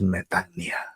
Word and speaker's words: metanoia: y la palabra es metania metania se escribe metanoia pero se pronuncia metania porque se se deletrea